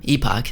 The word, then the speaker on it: Epoch: in Early Access up next we've got last epic or Epoch as they pronounce it in the game an imp impressive